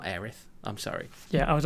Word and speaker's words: Aerith: not change this and it is heiress it's not aerith i'm sorry yeah i was also going to say like we all got heiress wrong because the localization